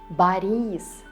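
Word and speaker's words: Борис: Because in all of them, O is not stressed. And what does it mean? Right, you read it as A. Boris, Oleg, Igor.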